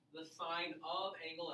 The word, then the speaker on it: sine: Now, we will not pronounce a sin. It's not pronounced sin. It's a sin to say sin. Okay? It's a sin to say sin of A. Okay? It's sine of angle A.